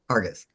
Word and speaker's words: Hargis: Hargis? Hargis. Um, Almost like haggis.